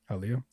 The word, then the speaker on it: Hialeah: Hialeah.